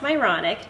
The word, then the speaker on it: Myronuk: this really fun is my last name is literally pronounced moronic just spelled differently okay so I have